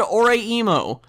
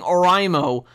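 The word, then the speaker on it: Oreimo: I almost said Ore-emo, because I'm used to saying it correctly, but then I remember I can piss so many people off by just saying Oraimo, and it's so wonderful and cathartic.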